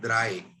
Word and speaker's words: drei: तो 3 की हमारी है DREI, जिसको हम प्रोनाउंस करते हैं द्राई। द्राई।